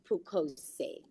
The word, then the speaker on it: Pukose: Robert Pukose. Before I give you his bio, I first want to know, have I pronounced that correctly, Honorable?